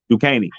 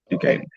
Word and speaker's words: Duquesne: Duquesne. Duquesne? That's the name? Yeah. Okay. Talk about S. Yeah. DUQUENSE. Yeah. Okay. Duquesne.